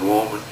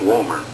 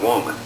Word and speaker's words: woman: Good-hearted woman. Yeah, well, that's woman. You said it wrong. You said you call it good-hearted woman. Woman. It's woman.